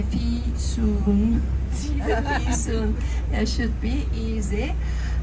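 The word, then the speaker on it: Fisun: i s u n the easiest way to memorize my name is by saying to yourself I have to pay my fee soon soon it should be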